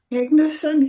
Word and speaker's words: Magnuson: Am I saying it right? Magnuson? Magnuson, yep.